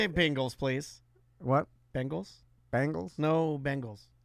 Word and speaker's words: Bengals: Now you said it, but you were saying a bingle. You were saying Bing like the search like the search engine. It's a Google. It's Bengals. Bengals.